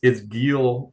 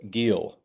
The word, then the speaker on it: Guille: Okay, so it's Guille rhymes with keel, so it's Guille. So Rhymes. think keel of a boat. Got it. Giel.